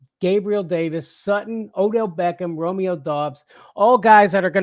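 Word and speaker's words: Doubs: with a Boston accent I always say it like that Romeo dos Romeo dos I feel like that's how it's pronounced is that not right no I mean it is it's just you gotta say with a Boston accent to get it right so I like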